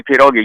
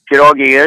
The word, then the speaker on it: pierogi: The way you pronounce it is one pierog. One you know, if you're pierog. going to, let me have one pierog then.